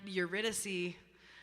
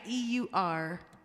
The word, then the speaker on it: Eurydice: And Eurydice, first song I ever produced on Spotify.